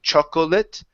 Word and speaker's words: chocolate: Okay, now in this word here, the O is not pronounced. So instead of saying chocolate, it's chocolate. 3 chocolate chip cookies. 3 chocolate chip cookies. Okay, all right. Now 3 is sounding awesome. We took off the S. Let's practice this word here. So instead of chocolate, it's chocolate. Two syllables.